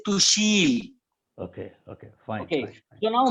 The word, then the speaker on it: Tushil: up or behar people when they pronounce my name they said okay okay but those who have a good uh tongue influence over their communication they say to shield okay okay fine you